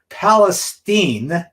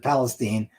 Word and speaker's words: Palestine: catastrophe that's occurring right now in East Palace Palestine and that's how they pronounce it Palestine Ohio where there's a trained derailment and these